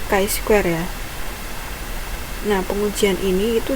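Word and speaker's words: chi-square: Goodness of it adalah k Square itu bacanya k Square ya Nah pengujian ini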